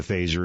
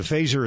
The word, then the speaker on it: Phazzer: the uh you don't need to register the phaser it's not not like a firearm in that